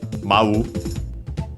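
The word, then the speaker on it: 舞う: It's worth mentioning because it's there's actually another word for uh another verb which means to dance. Mau unacented.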